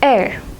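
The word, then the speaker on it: heir: In all these 3 words, the first letter H is not pronounced.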